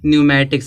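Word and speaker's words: pneumatics: नहीं पढ़ेंगे निमोनिया पढ़ेंगे इसी तरह से यहां दिया है एन है इस ए से पहले यहां प भी देखो प आया है तब प क्या होगा साइलेंट होगा इसको क्या पढ़ेंगे न्यूमेटिक्स पढ़ेंगे ठीक है तो प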